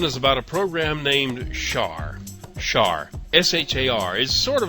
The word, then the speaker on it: shar: this lesson is about a program named shar shar shar is sort of an acronym for